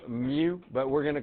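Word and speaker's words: mu: don't care if you know that that's called Mew but we're going to call it the mean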